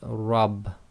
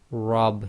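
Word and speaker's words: رب: this in the word rab. Rab. You cannot say my rab. You say my rab. So that's why it's rab instead of rab, is because the letter ra with fatha must be pronounced heavy, so it's ra, ra.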